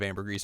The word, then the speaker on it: ambergris: Ambergris.